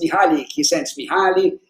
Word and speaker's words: Mihaly Csikszentmihalyi: and you probably read him, and nobody can pronounce his name. It's Mihaly Csikszentmihalyi, talking about flow and creativity.